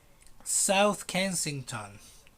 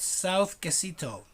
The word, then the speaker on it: South Kensington: South Kensington. And it's not South Quesito. Okay, some students said South Quesito. No, it's not Quesito, little cheese. No, it's South Kensington.